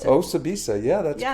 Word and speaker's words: Osibisa: How do you pronounce it? Osibisa, yeah, that's correct.